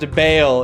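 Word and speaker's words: Baal: Ball is pronounced Bale in Diablo 2.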